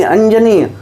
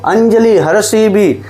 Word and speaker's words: अंजली: इसी प्रकार, लंबे 'i' वाली अंजली और छोटे 'i' वाली अंजली, दोनों को सही माना जाता है।